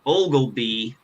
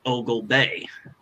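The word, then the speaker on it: Oglebay: there and I realized I had been mispronouncing it I kept thinking it was called Ole be and it turns out it's called Ogle Bay uhuh that would make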